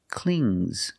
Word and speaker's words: clings: If I change it with an S, I hear clings, clings. It's a soft G. Not clings, but clings. Example, the baby.